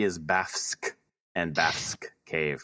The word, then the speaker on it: Bafsk: I am saying it like that because it's spelled Bafsk. Don't know what else you can do with that. No, we don't usually see FSK together in English.